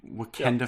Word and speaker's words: Wakanda: I can't even remember the storyline to Wakanda Forever. At least you're pronouncing it correctly now.